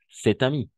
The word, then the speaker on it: cet ami: Y vamos a hacer una especie de liaison. Par exemple, cet ami.